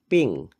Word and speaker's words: PNG: impressive C dot PNG this is pronounced as ping it stands for portable